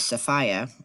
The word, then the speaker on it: Sophia: to bring his wife whose name uh is safia um but we pronounce it Sophia down here and uh um they